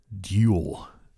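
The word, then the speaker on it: iconodule: what are they called icono duel icono duel those who defend the icons Icona duel I think they're pronounced iconoclast and icono deal duel it's d-u-l-e-s but I think it's pronounced duel the Bernays is uh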